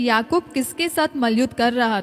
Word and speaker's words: याकूब: और वहां पे परमेश्वर चाहता था कि याकूब, उसका सही प्रोनाउंसिएशन है याकूब, याकूब, और जो इजरायली आज भी बोलते वो बुलाते याकोफ, याकोफ, ओके।